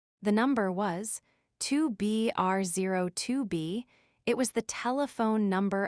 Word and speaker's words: 2BR02B: The zero in the telephone number he pronounced not. The number was 2B R02B.